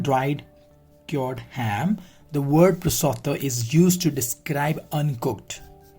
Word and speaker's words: prosciutto: Prosciutto. So the pronunciation of this is prosciutto, an Italian dried cured ham.